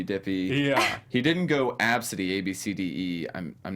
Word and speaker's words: Abcde: Her name was Absidy. You know how you spell it? ABCDE. I kid you not.